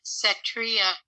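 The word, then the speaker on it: Setria: look for a glutathione which has the name cetria on it because that is usable in the body and it's spelled s-e-t-r-i-a uh s-e-t r i a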